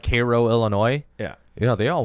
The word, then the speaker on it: Cairo: of funny you say cairo yeah it's not cairo it's properly pronounced cairo why in the midwest do we steal other